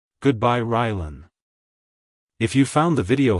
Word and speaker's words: Rylan: Keep the emphasis on the first syllable. Like, hello Rylan. Goodbye Rylan.